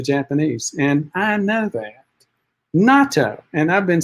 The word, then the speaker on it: natto: Mary Laborde, natto, pronounce it as natto.